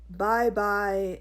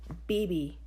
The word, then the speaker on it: Bibi: Bye-bye, Nira Ghani? The class titters. It's pronounced Bibi, I say, glad my dark skin hides the flush of pink creeping up my cheeks.